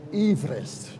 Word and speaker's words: Everest: And his name was pronounced Sir George Everest.